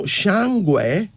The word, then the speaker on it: Shangwe: Now, Shangwe is spelled Shangwe, pronounced though as Shangwe.